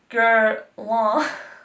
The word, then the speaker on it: Guerlain: In case you don't know how to pronounce this like I do. Okay. Guerlain. Okay, so, anyway, Guerlain.